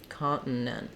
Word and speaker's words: continent: really don't hear them we just stop the air to make it sound like a t continent continent really tough because